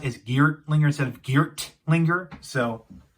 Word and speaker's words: Geartlinger: pronouncing this differently um a lot of people use um a a hard t sound for this thing which is geared to linger but i'm going to pronounce it as geared linger because well basically you know i'm using the soft t sound i think yeah yeah